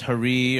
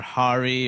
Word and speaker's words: Hari: It's pronounced Hari or Hari or Harry, or since 9/11 I've been called San.